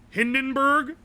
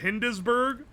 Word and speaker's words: Hindenburg: Hindenburg instead of Hindesburg.